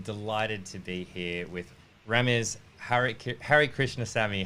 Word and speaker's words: Rames Harikrishnasamy: I'm Flynn I'm delighted to be here with Rama's hurich Harry Krishna Sami how are you remember I am good thank you for pronouncing my setting right you're too kind yeah